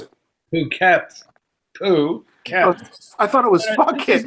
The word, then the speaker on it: Phuket: How do you pronounce it? Phuket.